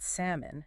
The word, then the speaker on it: salmon: That L is totally silent. No sound at all. None. It's not salmon. It's salmon. Stress on the first syllable. Sam. And that O is reduced. Kind of like an H sound again. Simoon. Samoon.